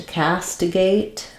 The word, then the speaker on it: castigate: to pronounce it so to castigate um is has first syllable stress um letter A says the a sound cast we're going to have awah or an I on stress second syllable there um and